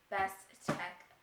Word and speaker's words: BSTEK: It is called, it's spelled BSTEK, so Best Tech Table Blender, but it says it's a table blender, but the thing is so huge.